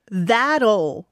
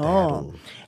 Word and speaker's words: That'll: 오늘의 발음 포인트인데요. Okay. That'll. 아, oof. Spell. 이 끝에 L 소리가 어려워. 좀 많이 어려워요. That'll.